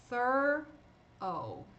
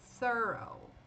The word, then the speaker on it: thorough: Aí aqui a gente tem O e o GH mudo, porque tá no final da palavra. Thorough. Thorough.